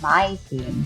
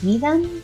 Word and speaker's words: Mytheme: Voidcritter and got a Mytheme card in return Mytheme? [pronounced like "my theme"] Mytheme? [pronounced like "me them"] Let's go with "my theme" Rarity: Uncommon Limited edition foil card Element: earth Power level: 5!?